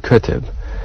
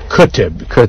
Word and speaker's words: Qutb: Someone whose name I'm not going to even try to pronounce because I bet you can. Said Qutb. Qutb.